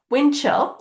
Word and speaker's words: windchill: as it sounds hibernate windchill is a little bit harder because when we pronounce it in English you typically don't hear this D very clearly um but it is